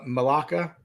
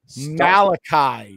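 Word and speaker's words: Malaki: His name is Malachi. Mal Malaka. Malachi.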